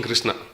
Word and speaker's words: Krishna: of the word krishna krishna has got two syllables krish and na krishi boo boo means